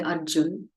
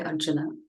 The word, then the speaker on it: Arjuna: So in North India, you'll say Krishna. In South India, we'll say Krishna. You'll say Arjun, we'll say Arjuna.